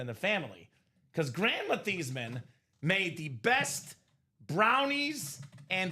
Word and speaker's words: Theismann: How do you feel about changing the pronunciation of your last name from Theismann to Theismann?